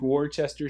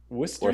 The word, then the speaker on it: Worcester: pronunciation is Worcester sh Wester so w Worcester w o s t r Wier sauce Wier sauce you you put too many syllables in there there there not warer